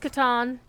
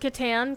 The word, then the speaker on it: Catan: actually Katan because uh German does not have the ah sound in similar circumstances oh that other warband